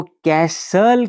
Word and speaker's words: castle: जिसको कैसल कहकर प्रोनाउंस किया जाता है।